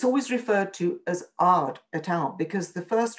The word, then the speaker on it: Aad: always referred to as Ard et al, because the first author listed, they were listed alphabetically, and the first author is spelt AAD, so it's listed as Ard et al.